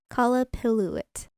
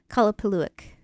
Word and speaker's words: Qallupilluit: There's a couple different varying ways you can pronounce it. But the one that I'm referring to is Qallupilluit.